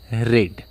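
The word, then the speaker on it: read: Have you रेड, अब जो रेड इसको पढ़ा जाता है, रीड रेड रेड बोलते हैं, हालांकि स्पेलिंग सेम रहती है, रीड ही रहती है, बट इसको रेड रेड पढ़ते हैं।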